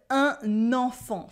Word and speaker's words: un enfant: And you get to try and pronounce the word un enfant for a child. Un enfant. In un enfant, you have a silent T at the end and two nasal sounds. En and fan.